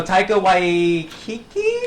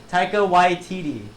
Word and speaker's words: Taika Waititi: So Taika Waititi. YTT. Taika Waititi.